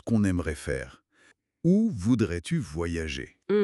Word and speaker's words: voyager: Attention, voyager. Voyager. Trois syllabes, faut bien les détacher au début.